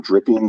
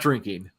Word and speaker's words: Dripping: name for a town Dripping Springs Texas it really it's Dr did I say it wrong it's dripping not drinking but still dripping you